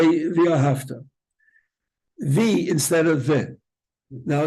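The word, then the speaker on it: וְאָהַבְתָּ: V'ahavta. It's v'ahavta with a vase.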